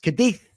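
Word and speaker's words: Cádiz: I I believe it's pronounced Kadith without the zed as free agent with negotiations at the final stage.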